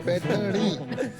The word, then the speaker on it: पैठनी: स्लोनी, पैठनी, वो जरा प्रोनाउंसिएशन इनका चेक कर दीजिए. पैठनी।